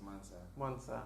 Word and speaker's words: MVNSV: It's spelled as MVNSV. But it's pronounced as Mansa.